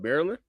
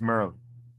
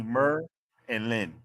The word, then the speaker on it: Maryland: Maryland? Yeah. Not even It's Merlin. Merlin. That's it. Not D. Mer and Lynn. Merlin.